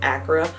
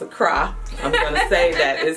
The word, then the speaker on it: Accra: that don't know and some people were may pronounce it Accra but it's a cry cry so you know learning